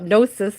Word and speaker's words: gnosis: Gnosis, gnosis, gnosis. I think it's just gnosis. I'm pretty sure the G is silent. Pretty sure the G is silent, guys.